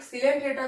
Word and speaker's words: Coelenterata: और यहां पे एक सिलेंट रेटा को हम लोग अदर नेम से जानते हैं डेरिया सी साइलेंट है जिसे सिलेंट्र रेटा नहीं